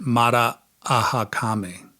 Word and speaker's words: Marakame: They pronounce it Mara-ahakame.